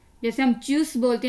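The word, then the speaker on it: Tschüss: हम बोलते हैं चूस, जैसे हम कहते हैं बाय बाय, तो ये च की साउंड देता है TSCH।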